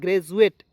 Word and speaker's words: graduate: DU का देखिए, DU का उच्चारण दोस्तों जू के रूप में करना है।